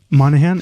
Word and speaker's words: Monaghan: was I gonna say Michelle Monaghan also I'm like always Monahan is that how you say it no you're right you're right um I'm always rooting